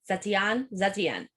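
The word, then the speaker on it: Zetian: Zetienne? Like a Zatar? Huh? Like Zatar? No, like Zetienne. Zetienne. Yeah, so if you say it like you're French, maybe it'll work. Huh?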